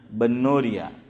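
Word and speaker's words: بنوریہ: لوگ اس کو باقی زیر کے ساتھ بولتے ہیں کہ بنوری ٹاؤن, بنوریا. کہتے ہیں کہ صحیح تلفظ با پر فتحہ ہے, جامعہ بنوریا.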